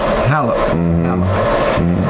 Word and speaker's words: Halep: How do you pronounce her name? Simona Halep. Halep.